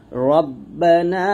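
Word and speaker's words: ربنا: একসাথে যদি বলেন এরকম বলবেন, রব্বানা আতিনা ফিদ দুনিয়া হাসানাতাও ওয়া ফিল আখিরাতি হাসানাতাও ওয়া কিনা আযাবান নার। তাহলে বাংলা উচ্চারণটা একটু দেখি। দেখুন হ্যাঁ, রাব্বা লেখছে, রব্বা বলুন, রব্বানা আতিনা ফিদ দুনিয়া,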